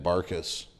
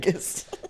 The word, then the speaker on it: Bankas: And then he's like, "This is my favorite comedian, Ben Barkas."